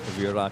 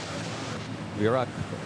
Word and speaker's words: Virac: Virac pronounced Iraq. Virac. Yeah, that is how you pronounce Virac, diba?